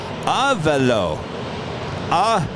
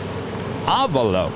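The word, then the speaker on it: Avelo: Oh, and Avalo is pronounced Avalo. Avalo.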